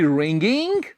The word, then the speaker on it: wring: ये रिंग जिसे हम निचोड़ना बोलते हैं उसके स्पेलिंग होते हैं WRING। आओ लिखें, इज ही रिंगिंग?